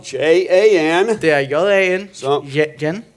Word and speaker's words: Jan: Okay, it's spelled J-A-N.